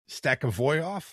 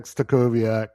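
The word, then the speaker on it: Stachowiak: for Latvia and Wojtek, you'll have to make sure I pronounce this right, Stakavoyov? So close, my friend. Close, my friend. That one. Yeah, Wojtek Stakowiak.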